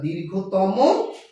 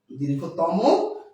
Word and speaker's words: দীর্ঘতম: বিশেষণের অতিয়ন করার সময় আমরা যদি তম বা তর প্রত্যয় যুক্ত করি তাহলে সেই শব্দগুলোর উচ্চারণ হবে অন্ত আয়ের উচ্চারণ হবে ওকার। অর্থাৎ দীর্ঘতম দীর্ঘ তর দীর্ঘতম দীর্ঘ তর আজকে আমরা